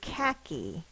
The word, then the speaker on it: khaki: going to be khaki khaki sounded out e the first sound is it's spell with a k h and that's because of the word origin e e at the end of the word is spelled with i and this word is from persia so it's persian origin okay and this says e ca key the next word is